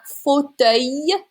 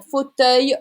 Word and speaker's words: fauteuil: Un fauteuil. It's a Y sound as well. Un fauteuil roulant.